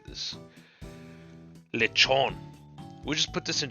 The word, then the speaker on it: Lechonk: You probably won't catch the K, but that's fine. Like, we don't say the T's in English. So, like in bottle and water. You know, that's kind of the same thing. You just don't say the K.